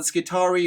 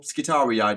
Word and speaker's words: Skitarii: numerous of these are the skari or skitarii depending on how you like to pronounce it the mechanically enhanced cyborgs